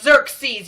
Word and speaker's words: Xerxes: It's Xerxes, y'all. It's Xerxes or Xerxes. Not that hard to pronounce.